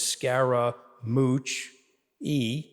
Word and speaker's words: Scaramucci: you by that okay so I have four syllables of my last name so he got to the third syllable which is Scara mooch e and he started calling